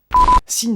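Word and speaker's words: Hsin: très jeune grimpeur américain Sin. Ah s'il vous plaît me reprenez pas sur la prononciation quoi. Je veux dire sin H S I N.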